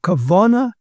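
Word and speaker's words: כוונה: He loved to quote the phrase that one in Judaism tried to go from kavana to dveikus. I purposely use the Ashkenazi pronunciation, namely from religious awareness and concentration to a clinging to God.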